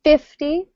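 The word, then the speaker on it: fifty: With 50, we tend to stress the first syllable more. So 50, usually.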